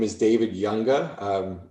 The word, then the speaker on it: Junga: my name is david younga um it's spelled j-u-n-g-a but the j is like a y so it's younger i am a board-certified